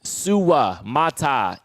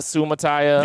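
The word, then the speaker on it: Suamataia: this real quick MH the pronunciation Kingsley sua mat so not Sumaya yes appreciate all of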